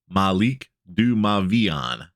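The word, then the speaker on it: Malik du Mavian: week's article about names this one's pronounced Malik du mavion truth be told even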